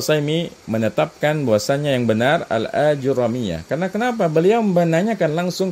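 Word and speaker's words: Ajurrumiyyah: yang bukan ulama Barbar tapi menetapkan ya cara bacanya bukan ajur ROM ini berarti beliau membahas kita nih ya Karena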